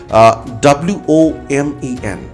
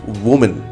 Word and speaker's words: women: Pronunciation skill, like I'm talking, and the word that I'm just giving you an example, WOMEN, we pronounce woman. No, it sounds women. It's women.